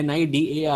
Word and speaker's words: Cnidaria: नाइडेरिया, नाइडेरिया, सी silent है, नाइडेरिया।